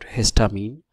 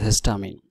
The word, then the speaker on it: histamine: that actually what is histamine? So you should pronounce it like that, hist and amine.